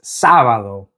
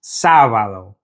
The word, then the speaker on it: sábado: Now to say Saturday in Spanish, it's sábado. Now just like miércoles, sábado also has an accent above the first syllable. So we need to stress that first syllable when we're saying it in Spanish.